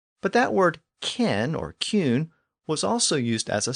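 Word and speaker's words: cyn: Another common Old English suffix was kin, pronounced cune in Old English.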